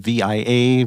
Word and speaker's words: Via: It's spelled VIA, but it's pronounced Vi.